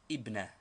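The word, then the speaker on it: ابنة: It takes the 2 dots of the ta, thus ibnatun, daughter. But in speaking or in newspaper reading, this tanween is always dropped, as it is only a case ending, and the word is pronounced ibna.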